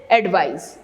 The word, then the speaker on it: advice: Again the change in the pronunciation, that is advice.